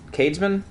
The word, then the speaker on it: Cadsman: Oh, thanks, Cads, man. My name's pronounced like Hades. Oh, Hades, man. Oh, Cadsman. You pronounced it. Oh, Cadsman, okay. Cadesman? Cadesman?